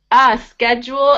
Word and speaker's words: schedule: Yeah, so this one is actually spelled the same way, but the pronunciation is a lot different. schedule. It's funny, for some reason this SCH, we're making it a sk sound.